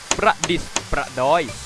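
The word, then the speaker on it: ประดิษฐ์ประดอย: เครื่อง สำอาง ไม่ มี การัน เครื่อง สำอาง ประดิษฐ์ ประดอย ไม่ ได้ ใช้ สศฤษ นะ ใช้ ด เด็ก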